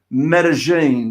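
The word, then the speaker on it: Medellín: i can actually i think i can actually pronounce medellin did i say that correctly you did indeed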